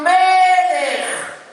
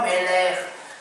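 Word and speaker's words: מלך: Baruch ata Hashem Elokeinu melech. Le melech, vous avez vu que l'accent tonique, il est sur le me, c'est pas melech. Melech.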